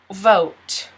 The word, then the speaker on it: vote: Next word, vote. Vote. V-O-T. We don't pronounce the E. V-O-T. Vote.